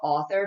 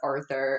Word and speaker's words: Arthur: I'd always call it author. My dad would make fun of me. He's like, no, it's Arthur. And I'm like, Arthur. Okay, Arthur.